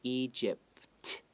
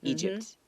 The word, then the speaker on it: Egypt: Well, first you can practice saying Egypt without the T. So Egypt, Egypt. And then when you're ready, add a T at the end and go Egypt.